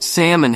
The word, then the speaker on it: salmon: Parker, kindly pointed out that my version of comfortable sounded more like comfortable, and I was convinced salmon had an L that needed to be pronounced.